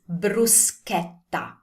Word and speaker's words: bruschetta: You want to pronounce this like the sound in ask. It's a hard C sound.